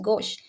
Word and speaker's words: gauche: Yes, the E is silent. Gauche. Gauche. Yes, the vowels at the end are not pronounced unless there is an accent.